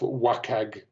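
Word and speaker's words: WCAG: the public sector is double a standard of wacag which is the web content accessibility guidelines pronounced as an acronym um public sector content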